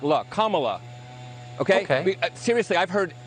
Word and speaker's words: Kamala: um hosts on fox her name is pronounced comma like the punctuation mark look kamala okay okay seriously i've